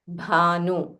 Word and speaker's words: bhanu: Yuga Sahasra Yojana Para Bhanu. Bha is Mahaprana. So say it with aspiration.